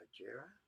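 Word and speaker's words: Hejira: I believe it's pronounced Hajira.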